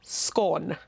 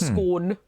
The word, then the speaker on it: scone: Kudos sh Shen and scone not scone scone okay yeah and I feel absolutely fine about saying that because ATM online tells me that it's a Scots word anyway nice so I feel I'm I'm in charge of those I've appointed myself unofficial guardian of the Scots anguage around these parts and it's scone okay fair enough although the